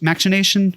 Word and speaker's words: machination: mechanics were mac mechanism machination imaginations i think yeah i i don't say the cho i say the the hard c um and and just